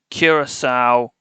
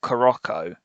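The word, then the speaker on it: Curaçao: And the Canadian fella who couldn't pronounce a single country to save his life, and he pronounced Curacao Coroco. That I lost my mind when I heard him say Coroco.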